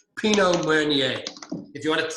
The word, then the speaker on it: Pinot Meunier: Pinot Meunier. You don't pronounce the R at the end. Pinot Meunier.